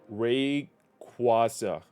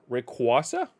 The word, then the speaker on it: Rayquaza: to look up this another one Ras rakasa Rayquaza Rayquaza H we're learning here today